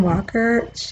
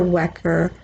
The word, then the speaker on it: Welker: The moderator was fantastic, Kristen Welker. Welker. I don't know if you pronounce it Welker or Wecker, Welker, Kristen with an E.